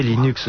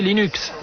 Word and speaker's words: Linux: puis le surlendemain vous en aviez 4000 développer Linux sans internet c'est comme si on voulait jouer